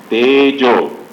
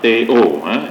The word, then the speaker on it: tejo: Then Tejo, not Teo, Tejo, Tejo. Tejo is fire element.